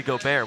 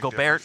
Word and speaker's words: Gobert: That's French, and he's from France. I'm not saying you call him by the wrong or right name. I'm saying the pronunciation is different. That's what I'm saying. We don't call him Gobert. We call him Gobert. The letters make different sounds.